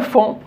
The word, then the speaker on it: fond: C'est une syllabe qui nous donne le son on aussi. Ça se termine avec OND. Un fond, le fond de la mer.